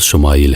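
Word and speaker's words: ישמעאל: خوشخبری سنا دی گئی۔ عبرانی زبان میں اسماعیل کا تلفظ شمائیل ہے۔ شما کے معنی ہے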